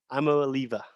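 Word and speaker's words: Iamaleava: three cole can you give me the actual pronunciation it's nico i'm a liliba i'm a leaver beautiful he's committed to tennessee um he's ranked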